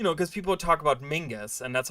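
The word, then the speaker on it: Menzies: but um you know because people talk about Mingus and that's how you pronounce that name by the way uh um balthazar's half-brother it's not mentis as Mingus apparently how you pronounce pronounce that I don't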